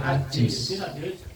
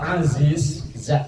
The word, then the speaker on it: Aziz: nama Aziz tapi panggilannya Ajiz, letoy jadinya. Iya, kalau Ajiz itu artinya lemah, letoy, loyo. Kalau Aziz, tengahnya pakai za, itu artinya kuat. Cuman beda pengucapan dikit antara Aziz dan Ajiz.